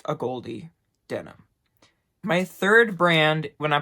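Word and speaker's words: AGOLDE: like how you could pronounce this it is pronounced a Goldy denim third brand when I put it up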